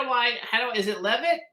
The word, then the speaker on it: Leavitt: do I is it Levitt how do I pronounce it correctly that is correct the original pronunciation was levette but over the years the English translation is love it I'm Russell impressionist actor